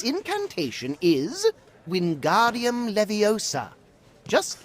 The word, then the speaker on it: Wingardium Leviosa: Its incantation is Wingardium Leviosa, just like this. Wingardium Leviosa. Pay attention to your pronunciation. It's Wingardium Leviosa. Remember, make the ga nice and long.